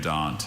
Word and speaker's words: brachiodont: Brachiodont. Brachiodont. Brachiodont. R-A-C-H-I-O-D-O-N-T. Brachiodont. That is correct. Yeah, that Latin hard C sound, hard K sound for the CH.